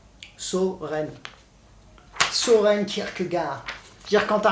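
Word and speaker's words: Søren: Alors là, pour le coup, ça, le O, un O barré. Le O barré des alphabets danois, norvégiens. Et pour le coup, celui-là se prononce bien O. Soren.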